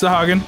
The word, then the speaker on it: Sahagin: Not too terrible there, the Sahagans. I don't know if that's the way to pronounce that, honestly. Sahagin, yeah. It's a D&D enemy. Yeah, but it's spelled differently. Mm-mm, it's Sahagin, just like that.